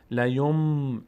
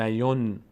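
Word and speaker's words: لينبذن: اولین قاعده لیوم نمیگیم لیون، نون اینجا اصلا تلفظ نمیشه تبدیل شده به میم.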